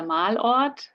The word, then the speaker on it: Malort: So it's der Malort, and Düsseldorf is the city, obviously.